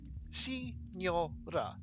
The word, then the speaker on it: Signora: Signora. 3 syllables.